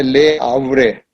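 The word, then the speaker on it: Le Havre: दोस्तों, अब हम आते हैं एक फ्रांस के दूसरे शहर में, जिसका नाम है ले आवरे। स्पेलिंग है LEHAVRE, लेकिन एच को नहीं बोला जाता प्रोनाउंसिएशन में।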